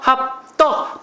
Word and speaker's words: 합덕: 자 3번에 합덕 그요 합덕 발음은 된 소리지만 된 수리 표기는 반영하지 않는다 그랬어요 기억하시죠 합덕 뒤로